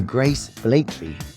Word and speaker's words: Grace Blakeley: And today we are joined by Grace Blakeley. Have I pronounced that right?